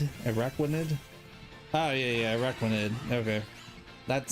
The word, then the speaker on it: Araquanid: I don't feel like I pronounced it right. Araquadia? Quaid? Araquaid? Araquanid? Oh yeah, Araquanid.